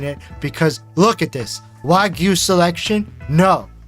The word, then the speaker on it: Wagyu: exposure section the way that I have been pronouncing it, because look at this. Wagyu selection? No. Wedge.